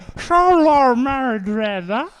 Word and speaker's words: Xolo Maridueña: No, you said Xolo Maridueña. So you deliberately fucked it up. I don't know how you pronounce it.